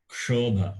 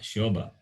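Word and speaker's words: क्षोभ: It's very important that pronunciation of ksha is important. In the one of the mantra which we chant, Deshoyam kshobarahitaha brahmana santu nirbhayaha. So there, Deshoyam kshobha, not shobha.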